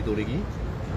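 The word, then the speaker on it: Dolheguy: Donc c'est Didier Dolegui. Ça s'écrit, ouais.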